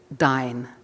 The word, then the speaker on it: Dyn: aspect of the magazine, Din, or Dine. That is our first controversy, actually, is how you pronounce it. And I'm afraid I'm saying Din, though I think everybody else here says Dine.